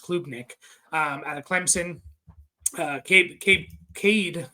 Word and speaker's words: Klubnik: I think it's pronounced Klubnik, out of Clemson. Cade Klubnik here.